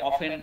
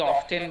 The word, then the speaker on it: often: ওকে, আমরা আরো দেখছি যে এই টি দিয়ে অফেন, OFTEN প্রোনাউন্সিয়েশন, অনেকে অফটেন বলেন, বাট এটা হচ্ছে অফেন, অফেন টিটা উচ্চারণ মিউট থাকে, অফেন, অফেন অফেন মানে প্রায়, তাই তো, OFTEN অফেন, অফেন is better.